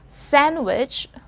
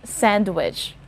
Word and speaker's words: sandwich: eating to the sandwich listen to the pronunciation of this word it's sandwich silent d and not sandwich all right he drinks